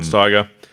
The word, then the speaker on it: Steiger: Like Steiger or something. G-E-R, maybe Steiger, yeah. Rod Steiger.